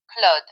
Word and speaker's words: Claude: My name is Claude, pronounced like Claude, rhymes with rod.